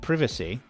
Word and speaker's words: privacy: Whereas in America they say private and privacy. They keep it the same.